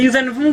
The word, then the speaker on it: Yuuzhan Vong: Pourquoi tu mets l'accent en façon Wong? Tu mélanges V et Wong. Vong. Vong. Comme avec un V.